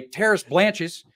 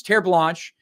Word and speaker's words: Terres Blanches: year uh with my business partner I I pronounced it the American way terce blanches until he eventually had to pull me off